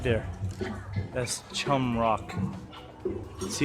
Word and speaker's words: Chong: Pronounced Chum Rock.